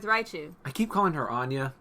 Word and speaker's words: Anja: I keep calling her Anya it's probably Anja it's a n j a but I keep saying Anya because that's the name I'm familiar with and Angel is not I'm